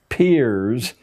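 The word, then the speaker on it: Peirce: philosopher human history is produced he was it's pronounced peers but it's spelled as if it were peers Charles's peers a strange figure a part-time lecturers Harvard created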